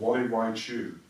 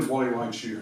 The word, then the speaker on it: Gualeguaychú: He's gone one weekend to a place called Gualeguaychú, and that's spelled with a G. And I think it's one of the most beautiful names of a place I've ever heard. So I'll say it again, Gualeguaychú.